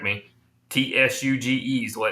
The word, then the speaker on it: Tsuge: Tsuge is the way it's pronounced.